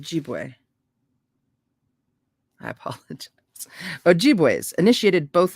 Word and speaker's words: Ojibwe: Someone recently told me how I'm supposed to pronounce that. I can't. Ojibwe.